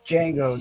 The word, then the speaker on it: Django: It's Django. The D is silent.